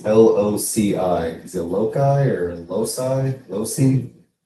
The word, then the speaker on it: loci: Is it loci or loci? Loci? It's most commonly pronounced loci, rhyming with the word sky.